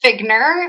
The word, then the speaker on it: Figner: It's pronounced Figner, like it should be spelled Figner.